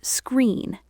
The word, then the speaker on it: screen: That's three consonants. S, K, and R. Screen. Screen. Screen. Notice how I don't add an E at the beginning. I don't say screen. I just start with the pure air of the s sound.